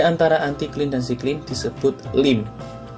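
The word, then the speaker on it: limb: Lereng di antara antiklin dan siklin disebut lim. Ejaannya L-I-M-B, lim.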